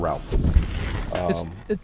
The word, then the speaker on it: Ralph: Like, it's Ray. It's like, what? It's spelled Ralph.